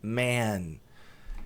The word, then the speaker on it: men: esse E para frente, man. E de homens, plural, olha lá, homens, M-E-N ao invés de M-A-N. A pronúncia é man, curtinho. Então, singular, man, plural, man.